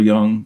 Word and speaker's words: Jung: we're talking about uh Carl Young or Jung I I apologize Carl Young I think is what we normally pronounce it as but it's Carl is